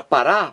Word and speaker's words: parar: Parar, a sílaba aqui, a mais forte é a última.